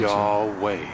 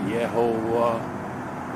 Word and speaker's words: Yahweh: Yahweh. Not Yahovah, not Yahweh, not Yahweh, not Yehovah, not Jehovah, any of that. It's Yahweh.